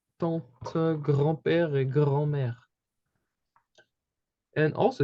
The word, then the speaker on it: tante: We have tante, okay? And the E again is not pronounced.